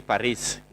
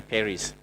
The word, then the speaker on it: Paris: Some people say Paris, Americans say Paris.